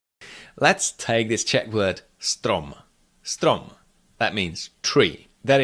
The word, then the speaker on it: strom: Combine the first 2 consonants, st, st, st. Then add ro, ro, stro, stro, and add the last consonant, strom, strom.